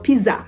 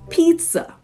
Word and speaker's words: pizza: zed sound okay mhm you are to pronounce it with a TS sound the first word it is not Piza it actually is pizza pizza so yes there